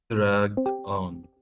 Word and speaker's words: dragged on: for a phrasal verb you put all the emphasis on the verb so how will you pronounce those two words together dragged and on dragged on dragged on dragged on